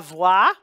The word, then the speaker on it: voix: The V becomes, stays the V, and the O-I spelling, those two letters together equal wa, W-A, glide plus the I. And the X in this case is silent because there's no word that follows it that begins with a vowel that would have a liaison.